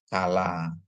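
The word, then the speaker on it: כַּלָּה: Terus ada kap dikasih patah, ini mana kap itu ada dagesnya jadi k ya. Sedangkan lamet dikasih kamats jadi la tambah he ya. Jadi bacanya jadi kala.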